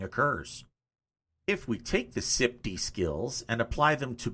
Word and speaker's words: SIPDE: Well, I pronounce it SIPD, but you can say it however you want.